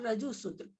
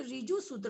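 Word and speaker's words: ऋजुसूत्र: फिर नैगम संग्रह व्यवहार व्यवहार रजु सूत्र, कोई कोई रिजु सूत्र बोल रहे थे, यहाँ रिजु सूत्र नहीं होगा, है ना, री नहीं है, ठीक है।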